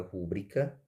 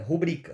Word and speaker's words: rubrica: uma coisa rúbrica rúbrica rubrica rúbrica rúbrica não é rúbrica tá como a gente fala é rubrica rubrica rubrica rubrica vejam que a sílaba mais forte está aqui ó certo na segunda posição veja 1 do se